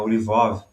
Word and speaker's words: Lvov: A Lvov, né? Que é a pronúncia polonesa, né?